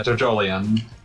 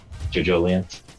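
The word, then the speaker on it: JoJolion: Yeah, Jojolian. Jojolian. Yeah, that's the pronunciation that was given because it's supposed to be evangelism.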